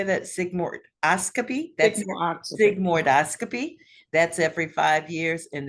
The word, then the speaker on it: sigmoidoscopy: do you say that sigmo oscopy that's Sig sigmoidoscopy that's every five years and then the virtual